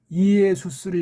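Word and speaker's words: Ἰησοῦς: 이걸 이에수스 주격 발음으로 해야 되기 때문에 이에수스를 일단 헬라스 말을 할 때는 헬레 말을 할 땐 이에수스 그렇게 우리말로 헬자를 표시해 주는 거예요.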